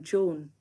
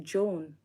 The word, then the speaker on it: Joan: We pronounce sounding like Joan. Okay. The A is silent. Okay. Okay. Joan.